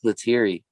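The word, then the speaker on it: Lettieri: herring isaiah sharkey allen holdsworth and uh mark luteri is how you say his name that guy's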